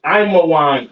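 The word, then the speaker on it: עמון: All right, Ammon, which is Imawan in the Hebrew.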